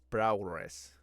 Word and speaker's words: prowess: Like I always love when, especially with Storm, where they go like challenge her prowess. That's a hard word to pronounce. Prowess, like on with a W, like power, prowess.